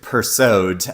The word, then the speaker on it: Persaud: It is The Lost Love Songs of Boysie, Singh by Ingrid Persaud. And yes, you do pronounce the D in Ingrid Persaud's name.